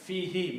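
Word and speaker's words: فيه: When you combine these, then it is pronounced as fi, and who is pronounced as he for the tajweed, for the pronunciation reason.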